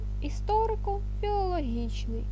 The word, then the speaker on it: історико-філологічний: читає Він і вона складні слова що пишуться через дефіс мають лише основні наголоси історико-філологічний мають наголос в слові історико на о та філологічни на і наголос буває словесний це